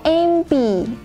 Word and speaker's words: MP: Kemudian ada an MP. MP, M itu cara bacanya seperti huruf E dulu di depan ya.